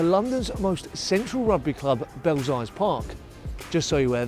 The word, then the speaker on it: Belsize: our way to London's most Central Rugby Club belly Park just so you where that's actually how it should be pronounced anyway here are some key effects on